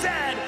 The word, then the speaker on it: Z: And it is pronounced Z, not Z.